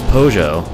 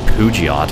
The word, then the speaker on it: Peugeot: No, it was Peugeot. I used to call it, like, Pugiot or something. Like, when I was little, I used to call Peugeot Pugiot.